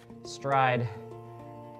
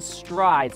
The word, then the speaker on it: Stryd: brands out there beyond stride so stride is spelled st are yd and does it help